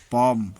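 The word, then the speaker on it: palm: बछड़ा, हाफ, आधा, फोल्क, जनसमूह, टॉक, बात करना, पाम, हथेली, आर्म्स, भिक्षा। एन साइलेंट, एम के बाद आया हुआ एन प्रायः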